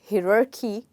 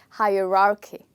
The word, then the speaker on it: hierarchy: the first part and the first part is hi yes so that's how you start this word you don't have to call it hiroki because you might think h i might be you know he which it is not it's actually hi so hi er r k hierarchy okay now we look